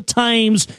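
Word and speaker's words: Thames: again yes the tames the tames rather let me say it correctly now the tames in Jolly o England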